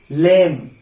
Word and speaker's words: limb: after em I repeat B is always silent when it is after em now some of you examples climb limb Tom dumb lame fuck'em